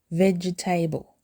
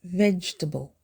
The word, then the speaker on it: vegetable: Don't say vegetable. It's vegetable. It has 3 syllables with the stress on the first syllable.